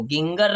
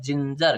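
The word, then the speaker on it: ginger: आगे देखिए JINGER तो क्या बोलते हैं इसको, गिंगर नहीं बोलते हैं, हम कहते हैं जिंजर, क्या बोलते हैं जिंजर बोलते हैं।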